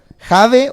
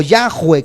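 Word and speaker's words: Jahve: Pero para poder expresarlo es Jave o Yahweh, como se pronuncia en el hebreo.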